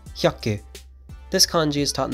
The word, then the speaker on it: 百: Today's kanji is 100, pronounced hyaku.